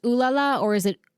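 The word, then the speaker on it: Olalla: Wait, is it actually pronounced Oolala or is it Olala? It's Oolala, but everyone Oh.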